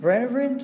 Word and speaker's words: relevant: Ví dụ ở đây đúng không, mình có redundant, decedent, relevant và consonant. Thì ở đây các bạn sẽ thấy là trọng âm của cái từ C, relevant, trọng âm là sẽ rơi âm đầu tiên.